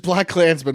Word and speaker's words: BlacKkKlansman: And then I say Blackkklansman, and people go, that's not how you say it. I've never been right. It's just Blackkklansman, one word.